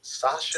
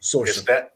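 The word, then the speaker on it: Saoirse: I don't know anything about it other than it's and I never is it Sasha? Sorcerer. It's Sorcerer.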